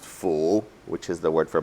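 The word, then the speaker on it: 福: character uh for blessings which in Chinese is pronounced full okay very often what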